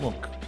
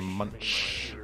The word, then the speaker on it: Munch: pronounced Monk. Not to be I didn't know that. confused with I kept saying Munch.